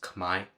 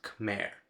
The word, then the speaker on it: Khmer: I also had to learn that it is pronounced Khmer, not Khmer.